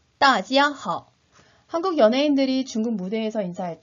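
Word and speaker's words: 大家好: 3번씩 따라 발음해 보도록 할까요? 大家好, 大家好, 大家好.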